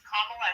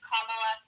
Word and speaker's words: Kamala: And at this point, if you cannot pronounce Kamla Harris, please don't say her first name. Just say EP Harris because at this point it just shows how ignorant you are. Her name is Kamla Harris.